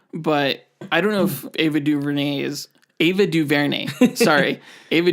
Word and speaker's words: Ava DuVernay: Ava Duvernay yeah Ava Duvernay Ava Duvernay it's pronounced Ava Duvernay why Ava Ava Duvernay Ava Duvernay all right